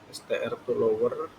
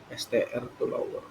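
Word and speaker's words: strtolower: Ada Starline Stroper STR to lower. Oh bacanya gitu ya. STR to lower.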